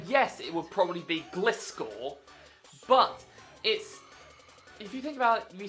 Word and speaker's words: Gliscor: Because there's only one way to pronounce it. Gliscor. Yet some diabolical people, pronounce it Gliscor. This one really gets under my skin. It's literally a glide scorpion.